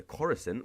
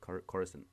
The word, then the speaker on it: Coruscant: I say Coruscant. I think that's how Qui-Gon says. Because that's when he goes like, "I'm taking these prisoners to Coruscant."